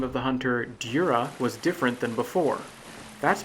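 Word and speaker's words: Djura: That's because, having seen the phonetic Japanese, it's now clear to me the J in his name is pronounced with a European-friendly Y sound rather than the J that I imagined.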